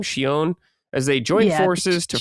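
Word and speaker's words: Shionne: Shon.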